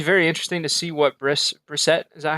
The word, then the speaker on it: Brissett: So it'll be very interesting to see what Brissett, is that how you say it? Brissett? That's how I've heard it pronounced, Yeah, Brissett.